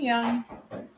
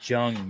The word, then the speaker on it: Jung: is going to happen hey young it's Jung you're pronouncing it wrong I am not you